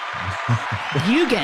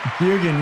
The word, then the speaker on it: Bjugan: Bjugan. Thanks for having me. Bjugan, you nailed it.